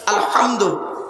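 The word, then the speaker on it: الحمد: গিয়ে আমরা সূরা ফাতিহা পড়ি আলহামদুলিল্লাহি রাব্বিল আলামিন আলহামদু এই গলার ভেতর থেকে হেটা উচ্চারণ করবেন আলহামদু এর মানে হচ্ছে সমস্ত প্রশংসা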